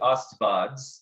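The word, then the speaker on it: Աստված: And pronounced Astawads. So it'd just be Astvads.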